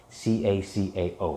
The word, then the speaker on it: cacao: that expensive you get raw cacao c-a-c-a-o right not coco but cacao and that has about